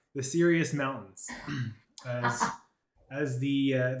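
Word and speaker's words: Cyrios: outlast even you as the sirius mountains that's spelled c-y-r-i-o-s uh good luck with that the serious mountains as as the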